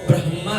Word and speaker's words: ब्रह्मा: और उदू है तो कई बार लोग बोलते ब्रह्मा शभ फ्र से शभ को व ब्रह्मा है ब्रह नहीं म पहले पले है फिर मा उच्चारण का किस तरह से जो हो सके